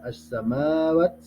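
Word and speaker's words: السماوات: Ada as-samawat, as-samawat, ya, yang pembacanya alif lam samsiah. Jadi di sini alif lamnya tidak dibaca, lamnya tidak dibaca, langsung ke huruf sudahnya.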